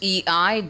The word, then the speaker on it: eidolon: A word of the day is spelled E-I-D-O-L-O-N, spelled E-I-D-O-L-O-N.